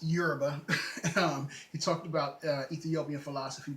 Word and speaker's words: Yoruba: Yes, it's pronounced Yoruba.